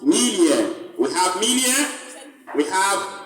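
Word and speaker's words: milieu: Alright, this is pronounced Melia.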